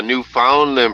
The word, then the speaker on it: Newfoundland: get some crazy come on up here there newfoundlandie uh that's a good way of getting her up here is by mispronouncing Newfoundland because she hates it right yeah